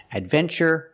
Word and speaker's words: adventure: We pronounce the TU with the ch sound, like chicken, when there's no stress after the T. In these words, there's no stress after the T, so we pronounce it ch.